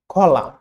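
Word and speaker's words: column: Silent N, ওয়ার্ডের শেষে এম এর পরে, ওয়ার্ডের শেষে এম এর পরে, যেমন অটাম, কলাম। এম এবং এন একসাথে যোগ হলে কলাম, কলাম, অটাম। এনটা সবসময় সাইলেন্ট থাকে।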